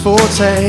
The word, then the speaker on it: forte: Learning languages wasn't our forte. It's pronounced forte.